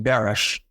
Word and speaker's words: Baris: Not to digress, Glory, but my Baris is actually pronounced Barish, and it's Hungarian, and it meant a sheep herder.